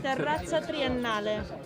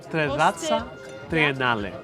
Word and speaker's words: Terrazza Triennale: How do I pronounce the name of the restaurant? Terrazza. Sì. Terrazza Triennale. Terrazza Triennale.